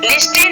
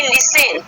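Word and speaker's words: listen: Example देते हैं, देखिए एल आई एस टी ई एन, लिस्टेन नहीं इसको बोलेंगे हम, क्या बोलेंगे? लिसेन, ठीक है।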